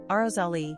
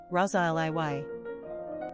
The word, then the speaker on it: Rosalie: Pronunciation, Rosalie, Rosalie.